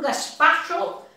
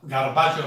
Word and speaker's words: gazpacho: Estoy preparando un gazpacho. Los estoy escuchando. Ok, Melissa. Debe de pronunciar bien esa palabra, garbacho, no vaya a ser que uno se confunda. Gazpacho.